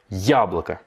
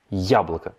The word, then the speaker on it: яблоко: Là, l'accent tonique, il est sur le ya. Donc c'est bien яблоко, яблоко.